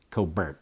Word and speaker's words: Colbert: By the way, Colbert has a lawyer brother who pronounced it Colbert, just so you know.